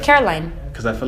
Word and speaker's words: Caroline: get your neighborhood yes they pronounce my name all the time wrong they say Carolyn Caroline no no they always say Carolyn or Carolina people would say Carolina did I say it